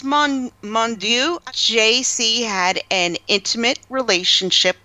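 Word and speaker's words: Mounduix: how do you say his last name its Mong Mong do JC had an intimate relationship one night with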